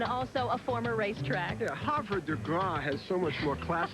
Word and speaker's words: Havre de Grace: Yeah, Havre de Grace has so much more class and dignity, but we'll go with the local pronunciation here outside of Baltimore.